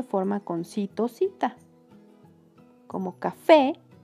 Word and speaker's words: café: con cito, cita, como café. La última sílaba fe es la que suena más fuerte, por eso es la sílaba tónica.